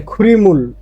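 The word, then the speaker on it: 그림을: তহলে খুরিমুল একসাথে উচ্চারণ হবে।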